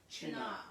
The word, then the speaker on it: Cynar: Now, Karina has asked, how is Cynar pronounced? We It look- is Cynar.